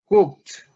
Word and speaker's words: cooked: about the pronunciation please repeat after me cooked cook at the end like a tea cook cook okay and